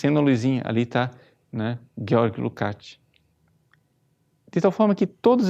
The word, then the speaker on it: Lukács: senhor chamado Georg Lukács, na verdade, a pronúncia, Lukács, que fala de conscientização.